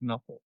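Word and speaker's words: Knueppel: I don't know that other kuple or something. Yeah, the dude cut. How do you say it? You know, it's knuckle.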